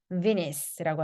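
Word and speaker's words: Venice: 베네치아라고 하지 않고 비니스라고 하죠. 네, 이건 뭐 베니스의 상인이라고 하는 거니까 우리도 아마 알고 있을 거예요.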